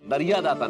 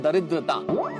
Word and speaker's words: दरिद्रता: अरे नहीं नहीं, ये दरिया दाता नहीं, इस शब्द का उच्चारण है दरिद्रता। दरिया दाता तो फिर कोई और ही शब्द हो जाएगा भाई।